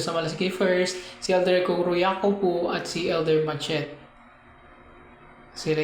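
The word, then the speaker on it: Kuru Iakopo: Kuruyako po.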